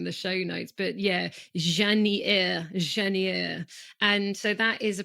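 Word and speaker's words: Jasnières: Well, it's because you, you know, you don't pronounce the S's within the everybody like I'll write the regions in the show notes, but yeah, Janeier.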